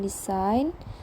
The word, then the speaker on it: design: Examples of silent letters in English are the letters B in subtle, C in scissors, G in design, T in listen, and C in talk.